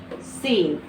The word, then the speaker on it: scene: SCENE, तो यहाँ पे C को साइलेंट कर देंगे। क्यों? क्योंकि C से पहले S है और C के बाद E है, तो C से पहले S, C के बाद E, इसीलिए C लेटर जो है क्या हो जाएगा? साइलेंट। तो हम इसे क्या पढ़ेंगे? सीन।